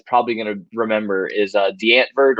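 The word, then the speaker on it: Die Antwoord: going to remember is D'Antwoord, or as we pronounce it here, D'Antwoord. But it's Dieantwoord. It's D'Antwoord is the way they pronounce it, I guess, over there.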